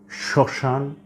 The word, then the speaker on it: শ্মশান: মনে রাখতে হবে যে শব্দের বা পদের প্রথম ব্যঞ্জন বর্ণের সাথে যদি মফলা যুক্ত থাকে তাহলে সাধারণত তার কোন উচ্চারণ হবে না তবে মফলা যুক্ত ধ্বনিটির